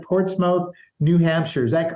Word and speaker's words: Portsmouth: Yao out of New Hampshire I think I'm pronouncing this right Portsmouth New Hampshire is that correct uh it's Port Smith I I I made that same mistake when